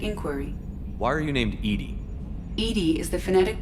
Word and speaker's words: EDI: have a specific inquiry why are you named Edy Ed is the phonetic pronunciation of e d that is an acronym